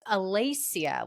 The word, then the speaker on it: Alessia: It's Alacia. Like Lace. Alacia.